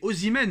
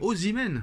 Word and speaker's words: Osimhen: C'est Osimhen, Nono. C'est pas compliqué à prononcer quand même. Osimhen.